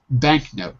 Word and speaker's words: banknote: ending you say it banknote you're putting two words together so the k and the n are not naturally together so the k is pronounced signature we've changed the